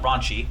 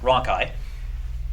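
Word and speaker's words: rhonchi: so if i hear roncai and that's how you pronounce it not raunchy but roncai okay roncai is an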